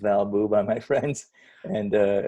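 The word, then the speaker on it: valb00: Twitter Twitter handle it's Val boo which is spelled v-a-l-b double zero but it's pronounced valbu by my friends and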